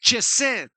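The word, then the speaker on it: חסד: Ahora, pero la segunda palabra que dice grande en misericordia, esa palabra misericordia en el hebreo es Jesed, que se pronuncia chesed y tiene que ver con bondad fiel.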